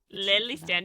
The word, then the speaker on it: Lelystad: Lelystad. You gotta pronounce the E.